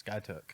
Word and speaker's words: Skiatook: you're from outside of Skiatook, it's Skiatook. Yep. So when I first started out there, I called it Skiatook, and eventually people are like, if you're going to be from here, you need to say it right.